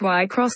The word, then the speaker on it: Wixoss: wixis diva a live pronounced y cross diva alive and also reveals